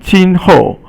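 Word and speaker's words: 今后: And then 今后. 今 is today, and it means it's first tone, and 后 is fourth tone.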